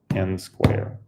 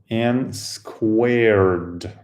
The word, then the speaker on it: n squared: The game ends where you reach the square n square. Squared. N squared, right? Is that the right? N squared. It's not n square, it's squared, right? Usually pronounced as n squared.